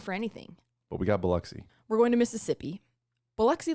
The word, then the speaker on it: Biloxi: you pronounce it again bxy buxy b i l x i okay buxy and I did listen